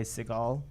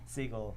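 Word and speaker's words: Ty Segall: of inspiration from from ty segal ty siegel i'm not sure how you say it i think it's seagull seagull yeah and um and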